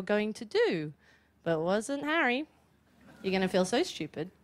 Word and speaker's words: Harry: identify with in that and he would say hair Potter and I'd say first it's pronounced Harry and secondly you've walked right into my clever